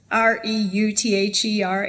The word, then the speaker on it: Reuther: It's spelled kind of strange, sort of like Reuters, Reuther. It's a German name.